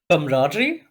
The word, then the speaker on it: camaraderie: Camaraderie? Camaraderie, yes! Oh my god, I never knew how to pronounce it.